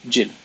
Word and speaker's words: Gilles: The name is Gilles, but in Maltese everyone would call me Gilles. Not like Jill with the English pronunciation, but more abrupt.